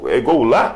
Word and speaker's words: Goulart: porque o pessoal perguntou assim, Goulart? Como é que é? Goulart. Goulart? É falado mais Goulart, né? Mas o pronunciado Goulart.